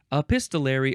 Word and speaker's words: epistolary: Bible next we have epistolary epistolary or epistolary or staller you can emphasize either one of those syllables a a pist uh